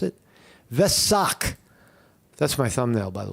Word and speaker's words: Vesak: And how do you pronounce it? Vesak.